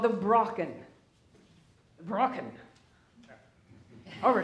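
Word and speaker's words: Brocken: peak of the hearts is called the Bracken broken over it's pronounced and you know high peak is relative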